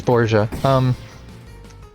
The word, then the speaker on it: Borgia: That's why I stumbled over the pronunciation. So, yeah, it is Borgia.